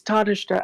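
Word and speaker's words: Tánaiste: Well, we now have questions to and Tanishtor, I believe that's pronounced. Gonna have to get Karma to check that for me, but It's Tadishta, and just for those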